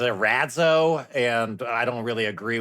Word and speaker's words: Erazo: He pronounces it Erazo, and I don't really agree with that, especially after months of living in Italy.